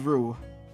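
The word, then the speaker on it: roux: It is called Ru. R O U X, though. The spelling is different, though.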